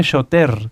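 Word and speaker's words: שוטר: Y shoter se escribe shoter con R, pero recuerden que la R en el hebreo se pronuncia como una G, shoter.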